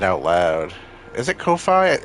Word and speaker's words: Ko-fi: Is it Ko-fi? It's got a dash, so I assume so. Because if not, it would be just coffee. Ko-fi, like lo-fi.